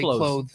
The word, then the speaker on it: clothes: Clothes or do you say clothes? I say clothes. Like c l o s e for clothes. Like clothes. Like clothes. I know. I don't I don't pronounce the th.